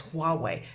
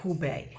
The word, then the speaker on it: Hubei: I had an NBC person call this Huawei, not Hubei.